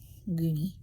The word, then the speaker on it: Guni: Ahi, son of Abdiel, son of Guni. That's how you pronounce my son's hyphenated part of his last name. Guni. Spelled differently, though.